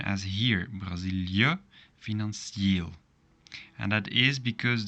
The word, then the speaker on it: Brazilië: But make sure to pronounce them separately. So this part, so I, and this part. So not Brazilië, no. Brazilië.